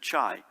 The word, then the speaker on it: Chai: Apparently, when people asked him how he pronounced his name, he said Chai, as in the tea.